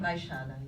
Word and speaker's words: Baixada: Baixada.